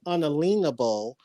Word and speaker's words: unalienable: We can say unalienable, but when we say unalienable, we want to accent the word lean, and that's important.